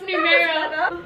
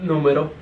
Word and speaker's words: numero: started all right Numero Uno how do you pronounce numero numero numero okay well Uno Caprice as in Capri